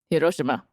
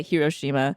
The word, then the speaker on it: Hiroshima: So I visited the city of, I'm trying to say it with the right accent, Hiroshima. Hiroshima. Hiroshima. Or as we Americans say, Hiroshima.